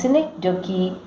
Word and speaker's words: synecdoche: A synecdoche, pronounced synecdoche, is a member of the figurative language family.